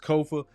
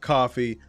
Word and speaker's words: Kofa: Again, I am your humble host, Kofa, K-O-F-A, not coffee, not, not Kofi, or any variation thereof. Kofa rhymes with sofa. Easy to say, easy to talk entertainment